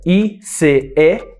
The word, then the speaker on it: ice: Só que no plural, ela não é homófona de gelo, porque gelo é ice, com S no final. O som de S. Ela é escrita I-C-E, mas a pronúncia é ice, ice.